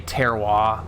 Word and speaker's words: terroir: and if you can you can like mispronounce it and say terroir that's like the non-douchey way to say it i think is terroir um i don't i